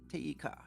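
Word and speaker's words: てゆうか: Teika. Teyuka. Teyuka. Oh, right. Teyuka. Yeah, Teyuka. So, wait. How? I don't know what Teyuka means. So that te is that quotative te, and the u is say.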